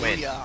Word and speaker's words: Nguyen: I'm pretty sure it's pronounced Nguyen. I don't know. We got actually it's Win on nguyenmb.